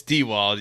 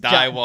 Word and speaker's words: DeWald: But my name's been pronounced Dieworld. I don't know where the R comes from, and it's I've heard that from multiple people.